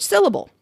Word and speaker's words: syllable: For instance, a significant portion of my students can't identify at first which syllable is stressed in the word syllable. It's the first one.